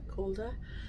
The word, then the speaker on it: Calder: How do you pronounce it? Calder.